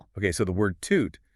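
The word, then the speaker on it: tute: Okay, so the word toot stressing the first syllable means person.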